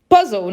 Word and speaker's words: Puzzle: Puzzle é o puzzle, né? É o quebra-cabeça, tá? Se escreve como em inglês, mas fala realmente um pouco alemanizado aí, né?